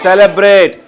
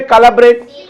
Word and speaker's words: celebrate: Why can't we say calibrate? Because it's a soft sound. C after E is there, right? Vowel. So that is why we are pronouncing it as celebrate, but not calibrate.